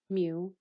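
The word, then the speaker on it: μ: For the population mean, we use mu, and it is pronounced mu, and it is computed using all the individuals in a population.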